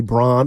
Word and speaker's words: Braun: Yeah I want to say Braun it's how is it brown and it's b r a u not everybody has a